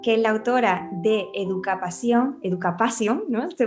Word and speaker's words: Educapasión: Hola, hoy tengo la suerte de estar con Maque Salcedo, que es la autora de Educapasión, ¿no? Se pronuncia así, ¿verdad, Maque?